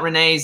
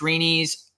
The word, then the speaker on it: Reney's: I feel like it's an important thing to tell people that it's not Renee's, it's Reney's. I feel like most people probably wouldn't pronounce it correctly.